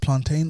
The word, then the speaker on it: plantain: Is it pronounced plantain or plantain? Plantain. Plantain. Yes. Plantain. No ifs, no buts? No ifs, no buts. Plantain. Yep. Like maintain.